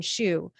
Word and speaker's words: Hsu: And we also had Christine Shu, and she had spelled it phonetically like a shoe. So it's HSU.